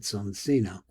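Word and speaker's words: Soncino: Though we know the name son that we pronounce it sonino.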